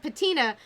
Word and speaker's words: Patina: things and ancient artifacts, and Patina rhyming with Athena, and also Athena's my favorite goddess. So Patina, goddess of wisdom, and